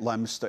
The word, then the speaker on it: Leominster: That's how they say it, Leominster, England.